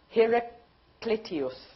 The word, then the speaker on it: Heraclitus: Heraclitus. See? I'll spell it.